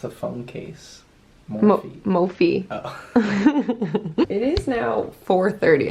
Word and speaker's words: Mophie: He's like, yeah, a company called Morph. Yeah, Morph. That is what it looks like, how you would pronounce it.